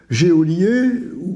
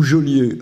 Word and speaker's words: geôlier: Alors, la même chose, on entend dans les chansons « géolier » ou « geôlier ». Alors, si on regarde de près, il n'y a pas d'accent aigu. Donc, de toute façon, c'est « geôlier ». Et c'est aussi toujours ce problème du « e » qui est là pour faire prononcer non pas « gueux », mais « je ».